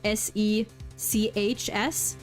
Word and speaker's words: sechs: Yeah, and it's also it's spelled with an S, but it's pronounced like a Z, so sechs.